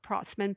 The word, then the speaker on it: Protzmann: Protzmann, pronounced Protzmann, spelled Protzmann, Protzmann, and on Twitter at Protzmann.